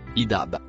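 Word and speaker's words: اذهب: Le premier mot écrit en bleu foncé se prononce idab.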